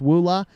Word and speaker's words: EULA: The privacy policy, the privacy policy that sounded like or looked like EULA, what I think is pronounced WULA, their privacy policy of that company actually talks about doing the same thing.